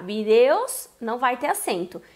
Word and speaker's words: vídeos: Só que quem for pronunciar vídeos não vai ter acento. E quem pronuncia vídeos, aí tem acento.